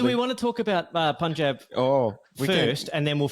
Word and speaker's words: Punjab: do we want to talk about Punjab we first, and then we'll finish the big finish? Yeah, with the big finish. We're gonna We can talk about Punjab Kings. Can we talk about Punjab Kings?